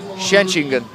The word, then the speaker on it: Schengen: The 21-year-old athlete, born in 1991, lives in Schengen. I'll say that again, and I'll say it properly. Schengen.